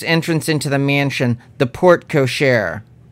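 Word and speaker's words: porte cochère: into the mansion the port cochair that's how you say it right grandma yes port cochere is french for coachman's door the carriage would let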